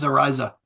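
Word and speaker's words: Reise: See, I would pronounce this Rise, but it's, what is it called again? Riza. Okay, Riza, which in German means rise.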